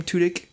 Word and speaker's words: Tudyk: Nathan Fillion, who plays Rick Castle in the show Castle, and Alan Tudyk, I think it's how you pronounce his name, Tudyk.